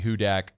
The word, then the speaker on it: Hudak: and said uh I'm disappointed that it's not Maddie who dat I thought I was saying who that no it's Hudak h-u-d-a-k um is the